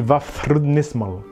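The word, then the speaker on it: Vafþrúðnismál: Donc le TH, c'est à l'anglaise. Donc ça se dit Vafrudnismal.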